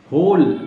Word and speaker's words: whole: हो, होल, WHOLE, होल, होल mean पूरा, डब्ल्यू नहीं पढ़ा जाएगा यहाँ पे। होल, HOLE, होली हो गया पूरा उच्चारण उसका। डब्ल्यू की कोई ज़रूरत नहीं है बोलने की, अगर डब्ल्यू लगा देंगे आप, डब्ल्यू को बोलने की कोशिश करेंगे तो गलत हो जाएगा।